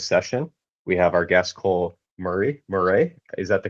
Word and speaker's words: Cole Murray: Here to MC this session we have our guest Cole Murray Morray. Is that the correct pronunciation? Uh Cole Murray.